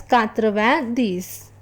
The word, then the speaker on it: quatre-vingt-dix: 90, which is written as QURTRA VENJ ashte DEX and is pronounced as quatre-vingt-dix.